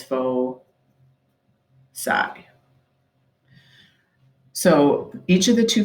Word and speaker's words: foci: and the plural is foci it looks like it says foci but you pronounce it as fo psi so each of the